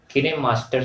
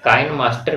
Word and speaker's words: KineMaster: तो आप काइन मास्टर भी कह सकते हो और किने मास्टर कह सकते हो, कोई गलत नहीं है, लेकिन ऑफिशियली जो है सही उच्चारण जो है इसका किने मास्टर है फ्रेंड।